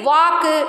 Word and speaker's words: walk: So L is silent when it comes after the letter A, O and U. Not only these. Walk, chalk, talk, calm.